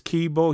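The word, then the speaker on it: Keybeaux: called ricochet so again his name is kibo he's a rapper and that is spelled k e y b e a u x okay and again the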